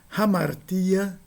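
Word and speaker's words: ἁμαρτία: Ramartia. significa erro. Espírito forte com aspiração.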